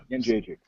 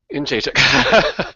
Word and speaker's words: Jędrzejczyk: Yes, I remember the video when you had the syllable by syllable correction. Jędrzejczyk. Jędrzejczyk.